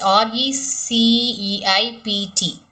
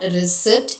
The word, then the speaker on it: receipt: And you have the word next, r e c e i p t. So, every other day we use this word, that is it is receipt. It is not receipt, it is receipt.